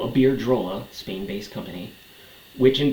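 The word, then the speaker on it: Iberdrola: Spain based air drolla which I kept pronouncing wrong in my first video about it I kept saying Aira but it's a beard drolla so aard drolla Spain based company which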